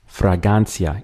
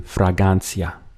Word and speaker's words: fragancia: ending in ance, and this one would be fragancia. It's very close. It's just that we don't include the R. The R gets dropped. So from fragrance to fragancia.